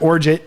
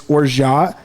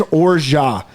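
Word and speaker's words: orgeat: or it's it's not we're jeet it's not origin it's orjah it is orjah so but it's it's fair it's fine to call it or jot absolutely but in french if there is if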